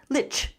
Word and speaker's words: literally: It is a tricky one, but look at my word stress at the top of the slide. Use that to help you break it down each syllable. Literally literally.